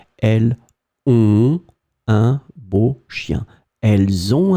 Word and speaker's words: elles ont: Elles ont, I make the liaison. Elles ont un beau chien.